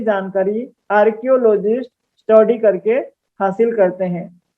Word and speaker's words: archaeologists: और जो पुराने जमाने के खुदाई के बारे में स्टडी करते हैं उनको आर्कियोलॉजिस्ट भी कह देते हैं। ये इसका क का उच्चारण होता है, स्पेलिंग सही करना।